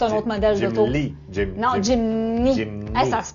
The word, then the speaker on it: Jimny: Non, c'est pas Jimmy. Hein. Jimmy, c'est un autre modèle d'auto. Non, Jimny. Hey, ça se prononce mal, pareil.